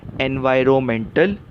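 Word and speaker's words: environmental: भी कर सकते हैं सही उच्चार क्या है एनवायरमेंटल इसमें जो एन है आर ओ एन में एन वो साइलेंट है वो शांत शब्द है उसका स्पेलिंग में उपयोग होता है लेकिन पढ़ने के टाइम उस अक्षर की हम आवाज नहीं लेते तो सही उच्चार क्या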